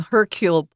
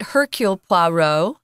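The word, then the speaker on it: Hercule Poirot: I hope herc puoo he's actually really French but and they do say his name herculeo we don't have to do the French R but Hercule PLO is more the English or I think he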